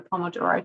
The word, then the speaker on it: Pomodoro: Pomodoro Technique um so I'm told I pronounce this incorrectly I pronounce it like an Australian Pomodoro is Italian for tomatoes it's I guess supposed to be like pomodor or some something like that but if you think